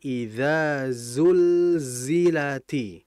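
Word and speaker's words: إذا زلزلت: Jadi idza zulzilati, karena za itu sifatnya sofir itu suara yang kuat dibandingkan hamas, suara desisan yang kuat ya. Makanya nah itu idza zulzila itu.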